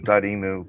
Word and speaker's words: Dotemu: Yeah, is it Dotemu? Like dot emotion? It is Dotemu, but I still I read te te What is it?